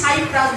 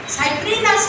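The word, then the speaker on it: Cyprinus: তখন আমি বলেছিলাম কেন, বড় শ্বাস নাভিনিফার, তাহলে বলুন তো রজত রুই, গ্রাস কাঠ আর সাইপ্রিনাস, আমরা যে উচ্চারণ করি সাইপ্রাস ভুল উচ্চারণ, সাইপ্রিনাস কার্পিও আর হাইপোথ্যালমিকথেস মলিকটিক্স আর টিনোফারিনগডান ইডেলা।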